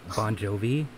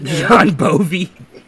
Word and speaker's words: Bon Jovi: Bon Jovi? Okay, I was getting his name wrong whenever I was saying it one time. What did you say? I Bon said- Jovi. I said John. John Bovey.